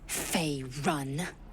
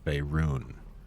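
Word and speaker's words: Faerûn: Fey run. Zelvira, with a hint of amusement, corrects Lae'zel's pronunciation. No, it's Faerun.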